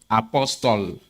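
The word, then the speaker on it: Apostol: Apostle. Apostle, like the title? It's spelled A-P-O-S-T-O-L. Apostle. Means same thing. But it's my name.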